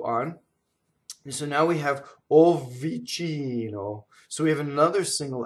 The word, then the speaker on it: vicino: So the V doubles slightly. Be very careful with double V. It's very, very slight. Lontano vicino. You see? It's very, you hardly can hear it.